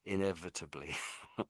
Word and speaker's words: inevitably: So, inevit inevitably. So, is actually inevit y, isn't it? So inevitably. Inevitably. Yeah, that's it. That's it. Inevitably.